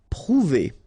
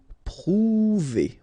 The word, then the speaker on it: prouver: Prouver, okay, O and U together, ou, prouver, prouver.